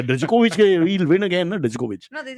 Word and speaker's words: Djokovic: maybe on But for court- Indians, I just want to point out the D is silent. In Djokovic. It's not Djokovic. That's why people keep driving me nuts with the Djokovic. He'll win again, no? Djokovic.